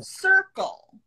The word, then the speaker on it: circle: L-E spelling, the pronunciation is all. So Oh. circle, Circle. right? So cir so we don't say, so Yeah. we say circle, Circle. circle. Circle. Triangle. Triangle. So we have the all sound.